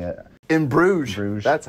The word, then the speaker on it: Bruges: In Bruges.